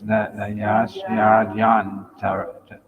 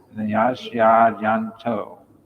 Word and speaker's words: nayasyadyanto: Nayasyad, it says Nayasyadi anto, but it's actually is the Y and A are together in it. So it's Nayasyadyanto. Nayasyadyanto. Because otherwise there's an extra syllable, then the rhyme doesn't work.